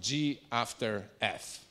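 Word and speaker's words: g ∘ f: the composition is uh this is pronounced G after F that's that's the composition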